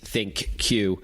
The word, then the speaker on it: ThinQ: the key differentiators between the LG g 8 think cue and other devices and thank you we should tell our listeners is spelled thi n cue and that's a name